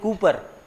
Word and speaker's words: Kuiper: ये जो नेपच्यून के बाहर वाला पार्ट है, this entire part outside Neptune is called as Kuiper belt. लिखते हैं कूपर, but pronounce होता है Kuiper belt.